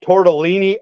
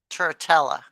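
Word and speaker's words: Turritella: This is a fairly large chunk of that tortellini agate that comes out of Wyoming. I go, Tortellini. yeah, it's the fossilized shells. Ah. Oh, look. Very cool. Tortella.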